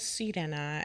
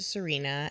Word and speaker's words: Sirena: Anyways, so my original name was Sirena. Everyone pronounced it Serena, and I had called myself that because, like, all through my life, I love mermaids.